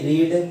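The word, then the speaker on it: read: कर सकते हैं, ही रीड, ही इसको रीड नहीं पढ़ेंगे, इसको प्रोनाउंसिएशन रेड होता है, तो ही रेड अ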